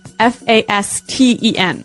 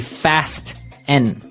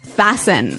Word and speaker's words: fasten: It's spelled f a s t e n. Right. So, it would be fast n. No. No. Right. Fasten. Fasten. The t kind of becomes silent.